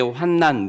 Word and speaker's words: 환난: 아주 혼돈의 상태를 의미하는 것이고, 여기서 이제 환난, 니은자로 환난이라고 하는 것은 이 환이 근심 환자 어려울 난자를 이렇게 씁니다.